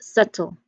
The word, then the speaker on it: subtle: Like the pronunciation here, as I've mentioned, is subtle. Subtle. There's no b, there's no b sound there.